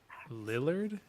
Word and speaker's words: Lillard: Matthew Lillard, is that how you say his name? Matthew Lillard is yes.